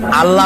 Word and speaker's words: আল্লাহ: গুণাবলীতে বিশ্বাস আল্লাহর নাম আল্লাহ বলেন তো আল্লাহ নয় কিন্তু আল্লাহ হচ্ছে অশুদ্ধ শুদ্ধ হচ্ছে আল্লাহ বলার সময় মুখটা গোল হয়ে যাবে বলেন তো সবাই উচ্চারণ